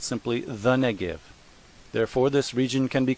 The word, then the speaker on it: Negev: often called simply the neive therefore this region can be called the biblical neiv pronounced neb in many English translations